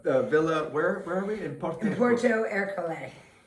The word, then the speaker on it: Porto Ercole: In Porto Ercole. But I'm not pronouncing it with the right Italian accent. Ercole. There we go.